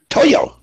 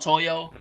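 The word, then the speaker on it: toio: o iio Sony to Toyo and you know why it's called Toyo Toyo is like how Japanese people say toy because for some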